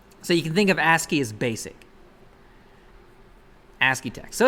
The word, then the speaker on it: ASCII: dot text is a so ASCII yeah it's pronounced ask you don't another one of those eightieth messages blah blah blah it's just basic basic text so you can think of ASCII is basic ASCII text so it's a text